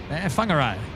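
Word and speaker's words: Whangārei: How do you say it? Funer. Funer. Like like a like like like fun. Yeah. Fun. There you go. What did I say? Wanger. Wanger. Fungare. So your your W is a phes north of Aland. Like like fully sick fun.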